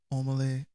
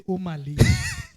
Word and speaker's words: Omali: Like I said, the artist Omale, and sorry if I'm mispronouncing your name, but look, if you could pay some people. I know how to say his name. What you do? His name is Omali.